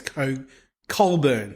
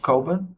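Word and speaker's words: Cockburn: k b u r n e yeah so that's spelled that's spoken as Co curn yeah curn it's spel it's pronounced cin but it's spelled all right so uh the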